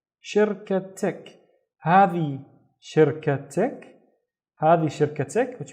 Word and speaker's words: شركتك: So the first syllable would be shir, shir. The second syllable would be ka. And the third syllable is tik, tik. شركتك هذه شركتك هذه شركتك, which means is this your company?